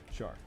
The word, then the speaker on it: Char: Char. It's spelt with a C, like char, but it's apparently Char.